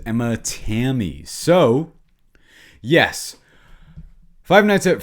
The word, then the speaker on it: Emma Tammi: What did you think of Five Nights at Freddy's 2, directed by, I believe the pronunciation is Emma Tammi.